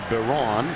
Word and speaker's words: Byron: He pronounces it Baron.